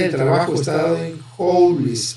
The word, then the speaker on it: joule: Fíjense que la energía, así como el trabajo, es la misma unidad de medida, el joule, ¿sí? Joule, o también se pronuncia julio, joule, o se escribe joules, ¿verdad?